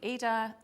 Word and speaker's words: Aida: So it's spelled A-I-D-A. So some people say Ada. I think the pronunciation is Aida, but whatever you want to call it.